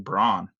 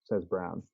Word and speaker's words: Braun: So his brother plays for Mizzou, and I always pronounce his last name Braun. I thought it was Braun. Every broadcaster, everybody here says Brown. Even though it's spelled like Braun.